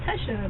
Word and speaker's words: Tecia: don't my first name I'm always like oh Tesha they're like like Kesha so I just put